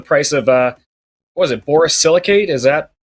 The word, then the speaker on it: borosilicate: Look up the price of, what was it, borosilicate? Is that how we pronounce it?